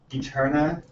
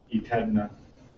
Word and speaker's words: EteRNA: I basically realized that like Eterna with the capital RNA, everyone pronounces it EteRNA.